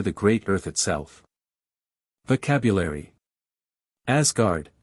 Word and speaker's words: Asgard: great Earth itself vocabulary Asgard s like Z abod of the Gods